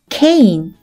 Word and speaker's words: cane: 다음 단어를 살펴보면 E는 발음이 나지 않고 C는 크, A는 A, N은 어떤 발음이 나죠? 맞아요. 느 발음이 나죠. C의 크 발음, A의 A, 뒤에 오는 느 발음이 받침으로 가면 cane, cane이라는 단어가 돼요.